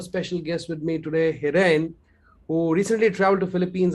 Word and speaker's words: Hiren: I hope I'm pronouncing your name correctly, Hiren, right?